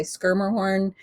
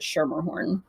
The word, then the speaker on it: Schermerhorn: and my last name if you're being really good in Dutch you would say skir horn but most of my family pronounces it shermerhorn all right so obviously